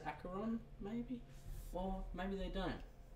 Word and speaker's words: Acheron: The way you say it, mate, is the traditional Greek pronunciation. Okay, yes. I am Greek. Part Greek. I am... It can be said either way.